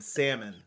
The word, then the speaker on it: salmon: no I say ask and salmon ill is silent you don't say celibate